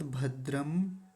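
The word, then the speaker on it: भद्रं: बिंदी लगी हुई थी तो यद भद्रम तन आसुव ऐसा भी बोलेंगे वो भी गलत नहीं है तो एक बार पूरे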